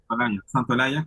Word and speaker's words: Santaolalla: Santaolalla? Yaya? Is that how you say it? Santolaya.